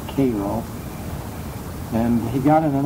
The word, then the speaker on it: Cairo: Everyone else would pronounce it Cairo, but anyone from that part of Illinois, it was always Cairo.